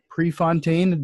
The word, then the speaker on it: Prefontaine: guest on this morning his name is Chris Prefontaine did I pronounce that right you did certainly and then he has